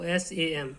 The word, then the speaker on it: Psalm: इसमें P और L silent रहती है, इसको SAM केवल इतना ही पढ़ा जाता है।